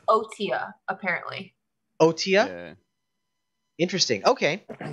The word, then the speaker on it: Otyug: Octorok because I have no idea how to pronounce this. Yeah, that's fine. Yeah. Because it's Otia, apparently.